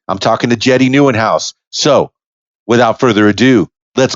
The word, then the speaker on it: Nieuwenhuis: Give the people the correct pronunciation of your last name. Yeah, that's Nieuwenhuis, and it means new home in Dutch. Well, that sounds fantastic to me. Nieuwenhuis, new home.